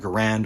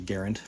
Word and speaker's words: Garand: fourteen and of course m1 garand or garand his name was actually garand pronounced pronounced garand nonetheless self-cleaning is a